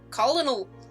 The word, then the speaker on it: colonel: as dunch um colonel or as i always read it colonel cause english is yeah you like check your brain in the back of your head like nope that's not how that word is pronounced yeah in high school